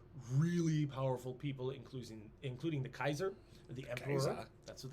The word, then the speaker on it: Caesar: That's why they say Kaiser, because technically I think it would be pronounced Kaiser, because C is a hard sound in Yeah. Latin. We just are used to Caesar.